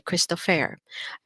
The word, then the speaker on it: Christopher: have the christopher okay but in the german language we say crystal fair if you want to sound more german the er or the r can usually be pronounced as air the air around you